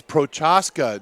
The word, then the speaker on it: Prochaska: week and many coach its Prochaska know the C is silent ask Matt and we